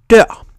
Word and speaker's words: dør: In neither example is the R pronounced, but note that in the last example, the R has an effect on how the word is pronounced, even though the letter itself can't be heard.